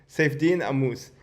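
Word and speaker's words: Saifedean Ammous: Oh yeah, shit, I butchered his name. His name is Saifedean Amus. Saifedean Amus.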